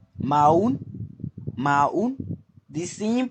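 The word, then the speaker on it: Maon: You drop the O. You pronounce it Maun.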